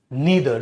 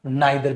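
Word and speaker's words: neither: इनमें आता है मेरे बच्चे ईच, एवरी, ईदर, नीदर, जिसे आइदर या नाइदर भी कह सकते हैं बेटा, ठीक है।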